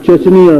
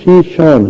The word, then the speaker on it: شیشان: ریاست تھی اسلامی شیشان، جسے وہ چچنیا لکھتے پڑھتے ہیں انگریزی میں۔ چچنیا اس کا اصل تلفظ نہیں ہے، اصل تلفظ شیشان ہے۔ اسلامی ریاست تھی